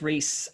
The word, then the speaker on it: Rhys: i'm on all the platforms uh but it's rhys r-h-y-s as the aliens uh spell it out uh i.e i add that uh